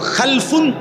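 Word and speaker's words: خلْف: খালফুন আরেকটা হল খালাফুন একই শব্দ শুধু উচ্চারণের মধ্যে একটু ভিন্নতা মাঝখানে একটা লাম আছে এই লামটার মধ্যে যদি সাকিন হয় তাইলে হল খালফুন আর যদি লামের মধ্যে জবর হয় তাহলে হল খালাফুন আরবি শব্দ খালফুন লামের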